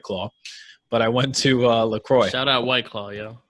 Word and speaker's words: LaCroix: How do you say it, John? LaCroix. It means the cross.